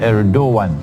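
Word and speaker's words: Erdoğan: But the pronunciation is Erdogan, the president of Turkey.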